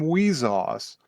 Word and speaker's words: WIXOSS: It's spelled WIXOSS. Wheezoss. And it is pronounced not that.